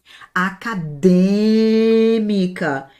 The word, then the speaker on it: acadêmica: Acadêmica. Essa é a sílaba forte. Acadêmica. A sílaba forte é a antepenúltima.